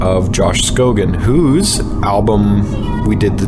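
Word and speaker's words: Scogin: It's not pronounced Josh Scogan. It is pronounced Scoggin.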